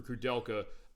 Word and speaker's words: Cudelka: the show next week for Cudelka, uh which is how it's pronounced, I realize now.